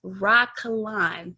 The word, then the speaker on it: Rah Kalon: So again, y'all, this is Miss Rah Kalon. Is that that's how you pronounce it?